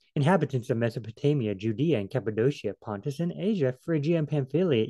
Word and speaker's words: Cappadocia: word and kappa do see it's actually change of c to an sh shia shia you know i mean who knows how to pronounce it cappadocia pontus you know just